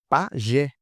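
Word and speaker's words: pajé: Por exemplo, pagé. Pagé, opa, é uma oxítona, não é? Isso, oxítona, a minha última sílaba é mais forte, pagé. Terminou em e, então põe acento.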